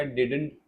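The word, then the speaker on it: didn't: के लिखा तो जाएगा डिडंट बट ये इसका सेकंड वाला डी जो है साइलेंट है तो प्रोनाउंस कैसे होगा डिडंट नहीं सेकंड वाला डी साइलेंट है इसकी आवाज नहीं आएगी आई डिडंट डिडट डिट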